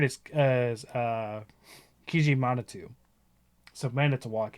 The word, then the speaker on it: Manitowoc: Brookfield not that Stevens Point oh my gosh Manitowoc yeah you actually got that one again this is Native American stuff so like I I can under because uh Manitowoc uh the word for great spirit is uh